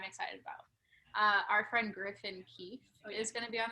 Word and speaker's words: Keeffe: Griffin Keefe, but his last name is spelled Keeffe. Cool. Yeah, 2 F's.